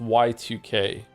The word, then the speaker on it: YIIK: Is it pronounced yik or yike? It's actually pronounced Y2K, but everyone just says yik.